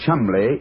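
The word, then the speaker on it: Cholmondeley: Now, being an American, he had no reason to know that the name Chumbllay is in no way pronounced the way it is spelled.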